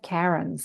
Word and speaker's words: Karen: insistent, because I went to school with 5 Karens and I'm still surrounded by Karens, like Karens everywhere. But yeah, I pronounce it Well, Karen.